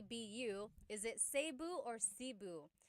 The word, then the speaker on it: Cebu: So, technically in the Tagalog alphabet, the letter E can be pronounced E or E, like the letter I. So, I say Cu. Cebu. And I know some people say Sabu, but usually it's either Cu or Sebu.